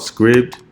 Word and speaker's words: Scribd: It's called Scribd with the D on the end.